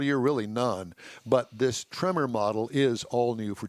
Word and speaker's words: Tremor: trim level trimmer tremor t-r-e tremor like the movie with well you new yorkers would pronounce it tremor tremor tremor i thought you were like trimmer like the guys in coming to do my bushes trimmers no not a trimmer no it's not that